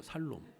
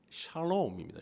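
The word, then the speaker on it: שלום: 살롬. 그래도 어떤 분은 그러면 샬롬의 반대말은 죽을놈이냐 이래? 살롬 죽을놈. 넌 샬롬이고 나는 죽을 놈이야. 발음을 잘하셔야 돼요. 예. 샬롬입니다. 샬롬. 쉬음이에요. 쉬. 예.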